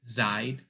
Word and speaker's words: seid: And for ihr, you say it's pronounced seid. And as you can see, you pronounce the E or the I in this case. With the EI rule, you pronounce the I.